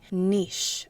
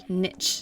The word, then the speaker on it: niche: 然后它的发音是 niche，在英式英文中，它的发音为 niche，而不是 niche，那是美式英语。要了解更多关于为什么很多花俏的英文单词来自法语，以及如何正确的念它们的发音，请点这里观看我另一部影片，同时也可以了解一点有关英国跟法国的历史。Let's look at some examples.